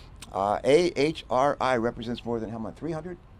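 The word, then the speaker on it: AHRI: as how do you what is how do you pronounce it Aura no no a-h-r-i HRI a-h-r-i represents more than helmet 300.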